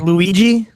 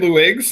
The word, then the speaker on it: Luigs: and by the way it is Lou IGS Nots I just got a personal message someone watching corrected so like Luigi no no Lou IGS L I said luigs I said it right luigs sorry L please don't